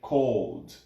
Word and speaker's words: called: not correct we say cold it's like it's similar in pronunciation to cold yeah civilian pronunciation the